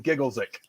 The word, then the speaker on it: Giggleswick: John says, let's be grateful Nigel isn't from Giggleswick. Or if you're going to go with full-on British pronunciation, Gigglesick.